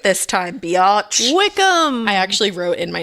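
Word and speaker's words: Wycombe: Wickham.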